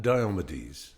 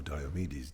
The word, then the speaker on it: Diomedes: him he's actor and diomedes or diomedes depending on how you like to pronounce him who's the Greek a